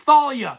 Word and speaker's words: Thalia: It's pronounced Talia, you idiot. You don't know how names are pronounced. Ha, it's Thalia. It was always Thalia.